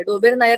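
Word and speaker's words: Döbereiner: लोकांनी ट्राय डोबेर नायर तिने बरोबर सांगितल डोबेर नायर त्याच नावच अस आहे त्याला मराठी मध्ये डोबरा नायर काही लिहिले मराठीच्या पुस्तकात पण त्या स्पेलिंग तुम्ही प्रोनान्स डोबेर नायर सारखं वाचता येत आपल्याला लिहितानाच्या हिशेबाने आपण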